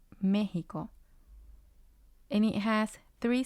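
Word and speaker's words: México: already saw mexico at the beginning and it's mexico and it has three syllables it has ko since this word ends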